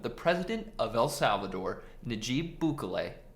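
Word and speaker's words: Nayib Bukele: president of el salvador najib bukolay look i see how it's spelled but i actually googled this and apparently that's how you say it announced via an event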